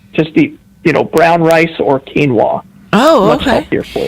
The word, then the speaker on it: quinoa: How do you pronounce quinoa? Is what I should have said. How do you pronounce quinoa? Oh, when you read it, it looks just like the way you said it, but it's quinoa.